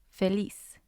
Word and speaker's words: feliz: as in these words feliz feliz it means happy feliz it has two syllables liz is the first syllable fe is the second one so the stress is on lis and when i